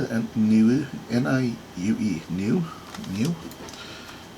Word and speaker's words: Niue: Alright, this is pronounced Niue. Okay, I couldn't have guessed that to save my life, I'm pretty sure. Niue.